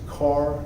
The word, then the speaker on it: Kerr: It's James Carr, but it's spelled Kerr, Kerr.